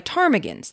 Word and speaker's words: ptarmigan: The area was overrun by ptarmigans, the P is silent, the state bird of Alaska.